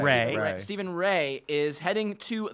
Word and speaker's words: Rea: Stephen Rea, is that how we pronounce his last name? Ray.